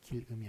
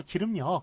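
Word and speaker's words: 길음역: 길음이 아니라는 것, R이라는 것, L이 아니라 R이라는 것, 이거 봐주시고, 예, 하여간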